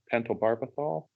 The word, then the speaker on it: pentobarbital: Unfortunately, this pig, it was supposed, um, was euthanized with sodium pentobarbital. Is that how you Right.